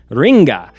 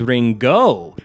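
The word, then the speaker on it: りんご: The vendor says, "Ringa." A purposeful mispronunciation of the Japanese word for apple, which is ringo, further conceptualizing the idea that we are not in Kansas anymore.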